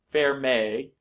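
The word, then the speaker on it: Fermat: this French mathematician I believe his name is pronounced fair fair may fair ma yeah fair ma is Wow a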